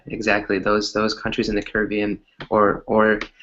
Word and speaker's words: Caribbean: Those countries in the Caribbean or there's actually two ways to pronounce it, Julissa, right? So the way you pronounced it, Caribbean, or you said Caribbean, right? You can also say Caribbean. It's actually Caribbean. more it's actually more American to say the way you said it.